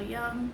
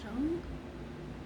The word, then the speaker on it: Jung: There's a quote on the end of the box by Carl Jung. Carl Jung? I think it's pronounced Young, isn't it? Could be wrong.